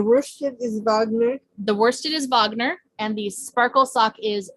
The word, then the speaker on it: Wagner: composer but it starts with the w it's pronounced wagner though so since we're crafty performers all of